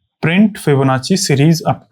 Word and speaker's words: Fibonacci: फिबोनाची ची जैसे Gucci होता है ना गुची जी यू डबल सी आई ऐसे ही तो होता है। स्पेलिंग मुझे पता नहीं है। इसको गुची बोलते हैं। वैसे फिबोनाची है।